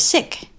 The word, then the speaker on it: sic: Not sick as in unwell or uncomfortable, but sick without the K.